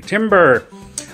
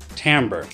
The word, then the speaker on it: timbre: It looks, if you spelled it on a chalkboard, it might look like the word you say when you cut down a tree, timber, but it's actually pronounced timbre.